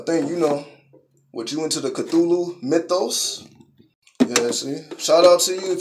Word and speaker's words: Cthulhu: It's Cthulhu. Again, it's not spelled like it sounds. That's what I mean. It's a weird type of spelling.